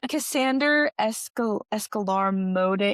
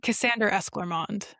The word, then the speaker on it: Cassander Esclarmonde: Actually, I'm gonna say the name totally wrong. Cassander Escalarmonde. How do you say his name? It's Cassander Esclarmonde.